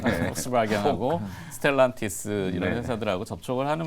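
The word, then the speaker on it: Volkswagen: 뭐 유럽에 이제 V로 시작하는 V인데 독일어 발음은 F음이 나죠. 네. 얘기하셔도 돼요. 네, 폭스바겐하고 스텔란티스 이런 회사들하고 접촉을 하는 모양이더라고요.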